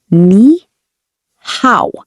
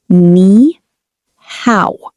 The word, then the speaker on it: 你好: In Chinese, hello is ni hao. Pronounce ni hao.